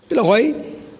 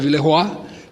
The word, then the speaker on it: Villeroy: Villeroy, embora em francês tenha que se pronunciar Villeroy, mas nós lá conhecemos como Villeroy, inclusive tem uma avenida importante com esse nome.